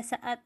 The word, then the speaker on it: saat: Misalnya kata saat. Nah, kata saat itu kan tidak kita baca sat.